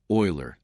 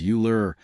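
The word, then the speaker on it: Euler: Gerald mispronounces Oiler as Uler when discussing the elegance of mathematics.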